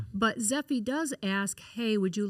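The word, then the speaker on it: Zeffy: We have this really cool app that is called Zephy. Okay. And how do you spell that? It's Z E FF Y. Okay. Zephy.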